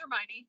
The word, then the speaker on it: Hermione: and I and I think I'm saying her name wrong is it her it's Hermione yeah it is it is Hermione a lot